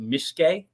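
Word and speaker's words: miske: It's called Mishke, and I may be pronouncing that wrong because it turned out that even Ecuadorians didn't really know what this stuff was. I went to a lot of different restaurants and bars and liquor stores looking for it. It's spelled M-I-S-K-E. Depending where you go, it also may have a Y at the end.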